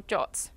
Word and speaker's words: JWT: And in this case, we've chosen to use JSON Web Tokens or JWTs or JOTs, depending on who you talk to, they say to pronounce it differently. I'm going to go with JWTs today, I think.